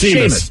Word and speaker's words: Seamus: It's like Seamus. There is no H in that doggone name. But everybody knows that name is Seamus.